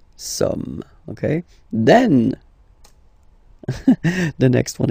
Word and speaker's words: sommes: So you don't pronounce the final S here. It doesn't exist. Somme. Nous sommes, okay?